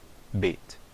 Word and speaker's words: Bet: O Bet, quando ele tem o dagesh, eu vou pronunciar realmente como o B, Bet. Quando ele não tem o dagesh, eu vou pronunciar como um som de um V, mas é um som bilabial, não é um som lábio-dental. Em português nós fazemos aquele som de V lábio-dental, vaca, né?